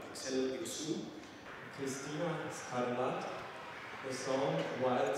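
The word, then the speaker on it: Axel Hirsoux: So actually, you don't pronounce the H at the beginning. Axel Iksu.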